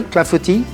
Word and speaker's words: clafoutis: So today, the recipe, another French lesson that we are going to do, apple clafoutis. Perfectly pronounced. Clafoutis.